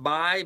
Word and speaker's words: Bai: I think you pronounce that Bai, B-A-I.